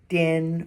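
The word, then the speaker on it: 顛: The seventh character is Dian, first tone.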